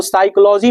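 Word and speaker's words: psychology: है उसी तरह आप साइकोलॉजी लिखेंगे ना तो साइकोलॉजी में आपका पी साइलेंट होता है सुनामी लिखेंगे ना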